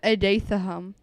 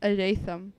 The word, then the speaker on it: Adatham: I always said Adatham, but his name is Adatham.